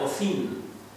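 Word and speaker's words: אזן: esta palabra es una palabra hebrea que se pronuncia ocin y esta palabra ocin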